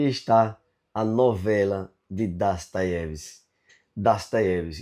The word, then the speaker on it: Dostoiévski: Das Deves e não Dostoyevs como muita gente fala. Das Tevs é um nome russo e ele tem essa pronúncia diferente de como a gente leria o nome dele em português.